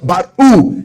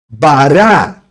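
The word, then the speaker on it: ברא: Você pronuncia baru e não bará.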